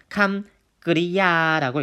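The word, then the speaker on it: กริยา: 동사는요, 태국어로 감그리야라고 읽습니다. 감그리야라고 읽는데요.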